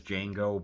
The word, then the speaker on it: Django: a bar and says, "My name is Django, but the uh D the D is silent."